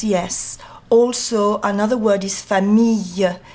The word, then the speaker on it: famille: Also, another word is famille. You've got to have like a y, yellow, like in yellow.